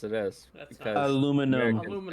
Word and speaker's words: aluminium: Yeah, aluminium. That's correct. Yes, it is. That's because not- Aluminum. Americans Aluminum. call it aluminum. Yeah, but that's Honestly, just I wrong. said aluminium for so long that I forgot how to